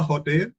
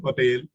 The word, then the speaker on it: hotel: A hotel is right and hotel is right. A hotel and hotel. So H can be silent.